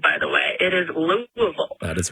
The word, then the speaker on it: Louisville: day early personally um also that's how you pronounce it by the way it is Louisville that is right most of my parents are